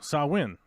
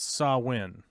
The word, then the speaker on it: Samhain: ancient Celtic Festival of Samhain a Gaelic word pronounced sahuin oh saw win okay so I win uh a pagan religious